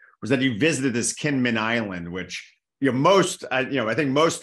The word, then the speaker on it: Kinmen: So so this island, it's called in English Kinmen, or it's pronounced Jinmen in Chinese.